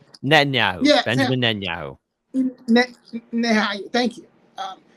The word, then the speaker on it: Netanyahu: Benjamin Nanyahu Netanyahu.